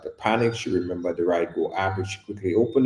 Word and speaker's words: Ridego: So go to the App Store right now and download Ride Go. It's spelled Ridego.